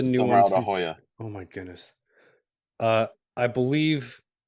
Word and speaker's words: La Jolla: Not all of the new Somewhere ones out of Hoya. Oh my goodness. I believe Wildfire's using two factories as well. Okay. Gotcha. Yeah, some of it's out of La Jolla. Yeah. La Jolla. I mean, Hoya.